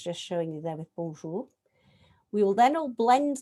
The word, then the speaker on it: bonjour: And if we see an R in English, we go r from here, from the front of our mouth, r. But in French, it's from here, it's ch. And so that is bonjour.